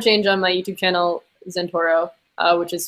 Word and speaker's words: Zentouro: science and climate change on my youtube channel Santoro which is spelled Z and tou ro probably if you